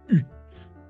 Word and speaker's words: eu: Oui, mettre, mis, et finalement avoir U. Este igual es U. Solo vamos a pronunciar U sin la E. La E es muda.